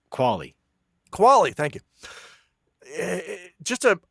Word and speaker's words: Qualley: And it was the Netflix original film Io from 2019, starring Anthony Mackie and Margaret Quaaludes. I don't know how to pronounce her last name. Qualley.